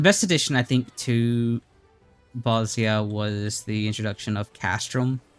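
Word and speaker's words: Bozja: So, I've been trying to correct my uh my pronunciate because it is bosia. Bosia, not bosia like I like to say or like a lot of people say honestly.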